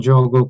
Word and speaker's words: Jogo: So the JO in Jogo comes from Joseph, and the GO in Jogo comes from Gordon. So together we pronounce it as Jogo.